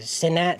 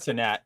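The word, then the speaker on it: Cenat: is real Kai sinat I think you say it satat C I think that's how you say it that's how I said satat when I I don't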